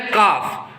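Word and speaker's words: calf: Next word देखो, next word है काफ। काफ means क्या होता है? बछड़ा। इसमें देखो एल साइलेंट होता है, एल को हम प्रोनाउंस नहीं करते, ठीक है।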